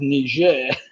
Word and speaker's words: Niger: it was wrong because tiger does not rhyme with niger as it said apparently in english i thought it spelt the same but it didn't sound the same thing you have to